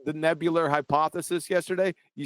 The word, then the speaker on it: nebular: like the way you said the nebular hypothesis yesterday. You said the nebulous hypothesis.